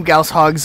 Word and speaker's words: goshawks: 8 wraiths spread across this level, and 2 goshawks while you're at it, which... yes, that is actually how you're supposed to pronounce it.